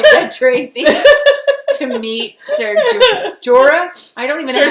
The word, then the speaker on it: Jorah: Tracy to meet Ser Jorah. I don't even know how to say his name. Jorah. Jorah Mormont. Oh, I thought there was a G in there.